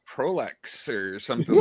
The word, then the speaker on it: Proulx: Yeah, and I so should have asked him how to say his last name, but You mean Proulx? there you go, Proulx, Warren Proul Jr., ladies.